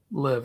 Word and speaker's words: LIV: tour thing yeah so how do you pronounce the other is it is it the live live yeah and it's stands for 54 because every single tournament